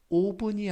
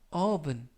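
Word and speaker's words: oven: 업은 5분 쏘게 이때 발음에 유의 하실 것은 5분이 아니라 업은 업은 알파벳 보호하 업 아르메 가깝습니다 그래서 아홉은 뜻은 5분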